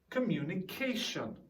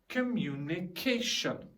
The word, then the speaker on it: communication: interference interference emphasis emphasis communication communication okay there's a kind of a rise in the word communication pronunciation interference emphasis communication